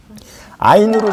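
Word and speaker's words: עין: 사맥으로 시작되는 사바 삽타 아인으로 시작되는 이제 단어 아인 그래서 이 아인의 음가는 알렙처럼 실은 묵음과 같이 그런 역할을 하기도 하는데 원래 이 아인의 음가는 여기 목에서 나오는 아 발음이에요.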